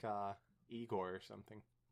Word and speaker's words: Igor: god sounds like uh igor or something it's pronounced i gore not when i watch